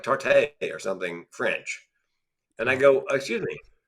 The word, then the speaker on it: tarte: but we don't pronounce it tarte. It's just tart.